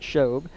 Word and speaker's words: Shobe: It'll be number 33, DeAndre Shobe, as the announcer pronounces it, Shobe.